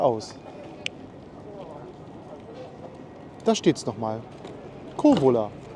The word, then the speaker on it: Kouvola: Kovola, das U spricht man nicht mit.